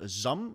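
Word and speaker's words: Xumm: everybody uses the wallet called zum and it will soon be relaying to uh rename to zamam okay so at the moment it's spelled x-u-m-m and in I think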